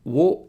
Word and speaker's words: を: up to get away を is pronounced like ‘o’ in ‘origami’ just like the vowel ‘o’ It used to be